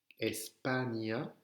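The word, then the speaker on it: España: Donc, si vous avez le mot, par exemple, Espagna, Espagna, c'est écrit E-S-P-A-N tilde, N avec la vague, A. Espagna.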